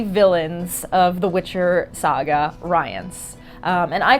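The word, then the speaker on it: Rience: i call him ryan's i think that there is a a few different ways that you can pronounce his name um i think in gwent they actually pronounce his name rince rince i'm not sure how they're going to pronounce his name in the show but the audiobooks pronounce his name ryan's so i'm kind of used to calling him ryan's so forgive me if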